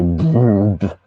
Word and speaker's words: BRB: I pronounce it all as one word and just say brrb.